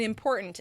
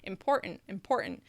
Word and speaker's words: important: Important. That one's hard. Important. Well, speak with a Californian accent. They pronounce the T.